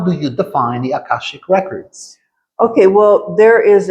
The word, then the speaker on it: Akashic: So let's talk about your past and your background in Akashic Records. Did I pronounce that right? Yeah, Akashic.